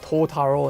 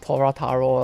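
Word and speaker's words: Torataro: funny I guess because she just calls him like totaro instead of Torah Taro like it's like in Japanese it's just like you kind of miss the syllable by like one and that's about it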